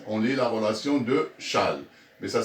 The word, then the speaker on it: Chasles: On lit Chasles directement, sans prononcer ce S. On lit la relation de Chasles.